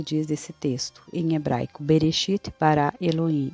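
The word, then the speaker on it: בראשית: nós conhecemos este Versículo este versículo em hebraico se pronuncia berechit para Eloim alif TAF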